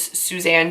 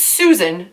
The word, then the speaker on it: Susan: watch that video guys I straight up say her name is Suzanne Denard it's Susan Denard I don't know what's